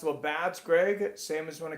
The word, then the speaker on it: Labatt's: Labatt's is a Canadian beer, pronounced Labatt's, Greg.